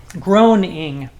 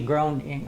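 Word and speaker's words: Groening: uh The Simpsons Creator Matt groan groan groaning g r o e n i n g groaning I guess how you pronounce it Name the characters Homer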